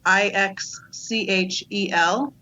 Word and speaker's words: Ixchel: talked about her but it's IX chal triangle doesn't it doesn't look like it sounds but that's that's how